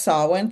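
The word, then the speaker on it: Samhain: less known word and it's spelled like Sam Hayne but it's pronounced sawin.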